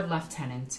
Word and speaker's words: lieutenant: for Captain 10 points per lieutenant or left tenant as I like to pronounce it because of my